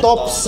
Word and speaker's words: TOPPS: Ah, ay so TOPPS, Christopher, so murag TOPPS. Ah, okay, nice, nice. I see, I see. So, uh, it's, pag-pronounce dapat na ana is kanang TOPPS Pizza, pero TOPPS gud siya.